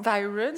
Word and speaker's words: Styron: essai Baldwin et là je ne sais jamais prononcer le deuxième nom Styron mais on peut dire styon St oui parce que ouais parce que les mot anglais on sait jamais donc Baldwin Ston et